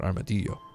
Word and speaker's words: Armadillo: It's actually, I pronounce it Armadillo.